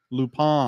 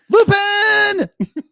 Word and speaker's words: Lupin: lupon or whatever but they have to put the stress on the a legally lupone except now it no